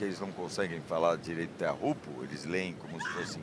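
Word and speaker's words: Teahupo'o: de é aquela coisa você pode usar a a pronúncia usual do circuito que nem sempre é muito a correta como te rupo e tchopo aham os próprios tatian sempre chamaram de te rupo aí de tantos gringos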